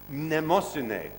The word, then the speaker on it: Mnemosyne: In fact, he wanted to call it Speak Mnemosine, who is the Greek goddess of memory, the mother of the muses.